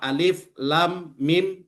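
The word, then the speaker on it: الم: Maka cara yang benar membacanya alif lam mim.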